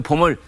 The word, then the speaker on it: bomb: 남북한에 봄이 왔다고 대대적으로 선전 그런데 그 봄을 스프링 봄으로 읽는 사람도 있고 봄 BOMP 다 아시는 것처럼 마지막 B는 발음이 되지 않은 묵음이어서 그냥 봄 이렇게 하죠.